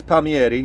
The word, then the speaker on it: Palmieri: your no name wrong it's team palmieri paul mary well no it's it's pommieri you were right but